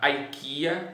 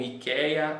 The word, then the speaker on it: IKEA: mais é a chamada IKEA, ou IKEA, ou IKEA, aqui pronunciam de várias formas diferentes.